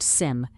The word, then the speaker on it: SIEM: A CIEM, pronounced sim, is a security information and event management system.